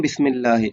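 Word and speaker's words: بسم الله: ওয়া ইয়াবদাউনা আমালাহুম বিসমিল্লাহ, এবং তারা শুরু করে তাদের কাজগুলো আল্লাহর নাম দ্বারা, বিসমিল্লাহ, মানে বিসমিল্লাহ দ্বারা বা আল্লাহর নাম দ্বারা। বিসমিল্লাহি, বিসমিল্লাহি, আলিফটা এখানে উচ্চারণ হবে না।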